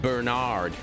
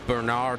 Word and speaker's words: Bernard: In America, you'd pronounce it Bernard. Bernard. Like Bernard Hopkins.